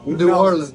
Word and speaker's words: New Orleans: hang you by your thumbs if you say New Orleans oh oh yeah new or yeah New Orleans New Orleans no there you go Harry conic taught me